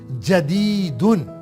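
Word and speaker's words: جديد: جیم کے اوپر فتحہ، دال کے نیچے کسرہ، یا کے اوپر سکون اور دال کے اوپر تنوین. جدیدن، نیو.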